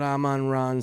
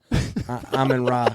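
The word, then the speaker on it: Amon-Ra: You got Aman Ron St.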